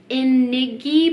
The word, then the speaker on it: INGNI: It's spelled a little bit weird. It's spelled like INGNI, but it's pronounced INGNI in Japanese.